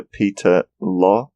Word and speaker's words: Peter Lorre: It says here, his voice is an impression of actor Peter Lorre. That's it's pronounced.